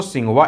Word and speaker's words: Tsinghua: तो यहाँ देखिए स्टार्ट TSINGHUA, इसको हिंदी में पढ़ा जाता है दोस्तों सिंघुआ यूनिवर्सिटी।